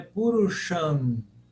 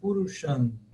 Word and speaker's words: Purusham: Agora, observem, é simples, mas lembre-se que o M com pontinho em cima não tem som de M, né? Ele tem som de nasal. Então é Purusham. Ok? Purusham.